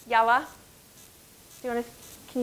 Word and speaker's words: yalla: Okay, and so it's pronounced yalla.